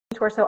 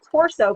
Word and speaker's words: Troso: I was saying Torso, but it's Troso. It is. Troso.